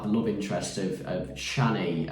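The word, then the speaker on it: Chani: love interest of of Shanny I think uh I think we're pronouncing that correctly it almost sounds a bit like Johnny in the film um but uh yeah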